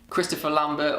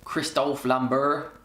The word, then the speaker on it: Christophe Lambert: Christopher Lambert, or Christophe Lambert, I think that's how you say his name in his native language. Christophe Lambert, because he's French, isn't he?